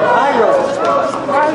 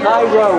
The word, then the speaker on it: Jairo: Jairo. Keep going. How was it? Jairo. Jairo with an R-O. Jairo. Face up. Heiko's the lake. Yep. Haiku is a poem, but Jairo is the wrestler.